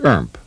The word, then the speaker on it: IRMP: reference mode panel or irmp pronounced erp the inertial reference unit